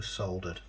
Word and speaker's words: solder: We're soldered. Oh, that's it. It's funny how they they or he pronounces the L in solder.